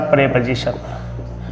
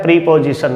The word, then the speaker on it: preposition: तो देखिए, आज का अपना जो टॉपिक है वो है भाई साहब प्रेपोजिशन। सबसे पहली बात, इस वर्ड का प्रोनाउंसिएशन सही तरीके से करना सीखिए। अधिकतर इसको बोलते हैं प्रीपोजिशन, नाजीना इट्स प्रेपोजिशन, प्रेपोजिशन।